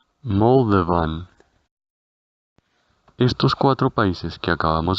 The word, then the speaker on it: Moldovan: Ahora, para Moldavia, diremos Moldova, Moldova, y su nacionalidad se pronunciará igual que el país seguido de una N, Moldovan.